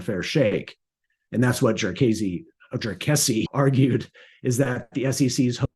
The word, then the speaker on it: Jarkesy: It rhymes with messy. So if you want to sound smart in front of your friends when you're talking about SEC Supreme Court cases, it's Jarkesy.